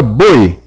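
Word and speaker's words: бой: A pronúncia é praticamente idêntica à palavra boi em português, apenas com o i um pouco mais curto.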